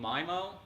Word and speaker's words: MIMO: 802.11n was something called mimo or memo depending on what part of the country you're from it's how you would pronounce that basically you have multiple